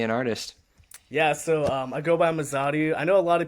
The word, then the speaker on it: Mazadu: I go by Mazadu. I know a lot of people they kind of pronounce it in different ways wherever they want.